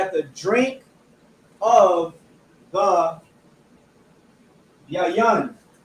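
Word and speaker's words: יין: You have to eat of the lamb, you have to eat of the unleavened bread, you have to drink of the yayan. Yayan.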